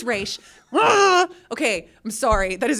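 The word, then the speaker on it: Ra's: into just Ral ghoul it's re not RZ it's re okay I'm sorry that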